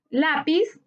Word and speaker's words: lápiz: brújulas se tildan lápiz lápiz es una palabra grave su sílaba tónica está en la penúltima sílaba se tilda porque todas